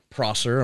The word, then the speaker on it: Prosser: Kurt Prosser, am I pronouncing Kurt that Prosser, right?